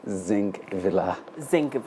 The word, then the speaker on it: Zingvilaa: It's actually Zingvilaa. Zingvilaa. So the G should come. Zing. So it's not a silent.